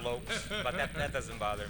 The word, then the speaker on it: Lopes: Cuz sometimes people say Lopez instead of Lopes, but that that doesn't bother me.